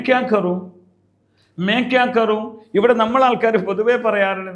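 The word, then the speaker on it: करूँ: മേ ക്യാ കരേഗ എന്നല്ല, മേ ക്യാ കറൂ എന്നാ ചോദിക്കേണ്ടത്. ഇങ്ങനെ നിങ്ങൾ പറയാറുണ്ടോ? അങ്ങനെ തന്നെ പറഞ്ഞ് ശീലിക്കണം. ഇനി മേ ക്യാ കറൂ, മേ എന്ന് പറയുമ്പോൾ ഊ എന്നതാണ് അതിൻ്റെ അവസാനത്തെ ഉച്ചാരണം ഉണ്ടാവേണ്ടത്.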